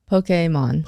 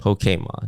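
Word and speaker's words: Pokémon: Pokemon. Pokemon. Yeah, that's how that is the correct pronunciation.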